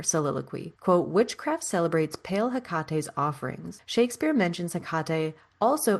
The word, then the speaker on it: Hekate: can almost vouch that spell, the resurrection spell that Sally and Jillian were doing, it was Hekate, and they said Hektate because they don't know what the fuck they're talking about because they're trash agreed.